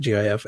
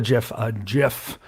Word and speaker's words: GIF: it should be pronounced, the graphics format should be pronounced with a hard G. Because on the top of it says, if you've ever called a GIF, we forgive you.